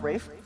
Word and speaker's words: Ralph: This is Rafe. Spelled Ralph, pronounced Rafe.